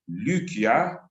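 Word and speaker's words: Lycia: lucia or luka so when you pronounce likia in the proper way lucia then you can easily understand the connection of luka and lukia the mira lands volusia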